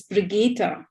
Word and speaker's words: Brigitte: to be uh clear the pronunciation if you want to pronounce my name it's brigitte brigitte that sounds better i